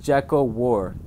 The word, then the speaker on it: Giacobar: It's pronounced Jacko War. Jacko War? Jacko War. Okay.